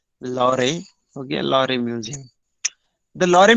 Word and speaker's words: Louvre: Okay, you can pronounce it like this, Louvre.